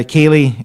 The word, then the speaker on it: Ceilidh: Now, Ceilidh is spelled Ceilidh, just for those who don't know.